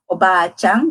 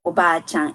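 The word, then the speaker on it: おばあちゃん: And this one is about the difference in the pronunciation of Oba-chan, grandmother, and Oba-chan. That would be auntie, aunt. Então, Oba-chan é avó e Oba-chan é tia.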